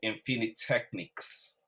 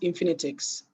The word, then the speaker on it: Infinitechnics: So we're starting with Oluwatobi Bosharod, who is the MD of Infinitechnics. You're on mute. Thank you. It's pronounced Infinitix.